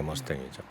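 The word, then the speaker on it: Mustang: 말씀하셨겠지만 이제 무스탕이라고 쓰는지 영어 발음 머스탱이라고 얘기하는. 머스탱. 네, 머스탱이죠.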